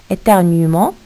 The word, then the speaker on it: éternuement: Ici, éternuement, le E n'est pas prononcé.